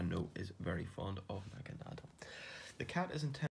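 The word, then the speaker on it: Naganadel: And the final one is a Naga Nadel. Now, I pronounce this in the German, with the German pronunciation, Nadel meaning needle, and Naga, which has links, I think, back to sort of Oriental sort of mythology.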